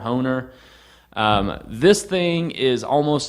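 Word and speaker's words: Hoehner: is this book by howard or harold hohner i guess is how it's pronounced it's h-o-e-h-n-e-r homer owner um this thing is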